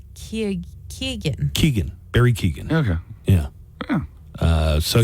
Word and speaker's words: Keoghan: How do you pronounce his last name? Keoghan. Keegan.